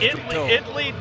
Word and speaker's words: Italy: There is no A in its pronunciation. Italy, Texas. Italy.